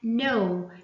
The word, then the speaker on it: know: example lights we did not pronounce the g lights and also we have no no we did not pronounce the k and the last example